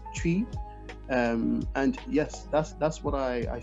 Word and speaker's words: Twi: And in terms of the language, so in Ghana, the most popular language is Twi, which is spelled Twi, pronounced Twi.